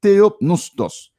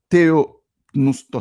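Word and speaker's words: θεόπνευστος: Eh bien, le mot grec que Paul utilisait pour inspirer dans le passage ça, c'est theopneustos.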